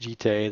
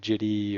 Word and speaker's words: Jitte: Next up is Umezawa's Jitte, and I do believe it's pronounced Jitte, though you'll hear Jitty or I don't even know all the different pronunciations that this card has had.